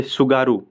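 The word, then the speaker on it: Tsugaru: हाँ, तो कुछ और इंपॉर्टेंट यहाँ पे देख लीजिए, जैसे सुगारू, ठीक है, सुगारू, यहाँ पे इसको टी से इसकी स्पेलिंग शुरू होती है, तो कन्फ्यूजन मत होइएगा। तो सुगारू है, अगर ये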